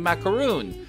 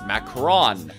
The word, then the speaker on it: macaron: lie with how i've been pronouncing macaroon it's macron sounds like a damn digimon my whole life has